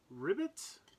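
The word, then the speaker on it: Ribut: out this is ultraman ribbit reboots i think it's supposed to be reboot but they write it and kind of say it like ribbit so he's the Frog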